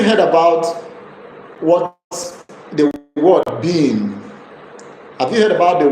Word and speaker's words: BIM: Have you heard about what the word beam? Have you heard about the word CAD? If you have heard about the word CAD and beam, beam is spelled B-I-M.